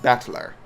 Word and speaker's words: Battler: Japanese pronunciation soar okay the problem is my given name whatever is made up of the characters for fight and person it's pronounced battler okay put all together